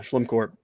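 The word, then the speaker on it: Schlimcorp: a better marketing yeah you'd think it's l-e-m but yeah slim court and uh my short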